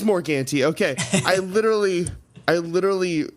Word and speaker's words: Morgante: say your last name is it morganti it is more ganty okay I literally I